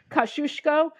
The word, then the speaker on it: Kosciuszko: to pronounce it U my polish friends tell me it's pronounced kushko but people say the kuso bridge the kashius bridge so you hear